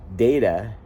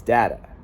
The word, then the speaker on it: data: So to get the A, data, it's data. It's Matt, cat, dat, fat, sat, bat, rat, dat, as opposed to data.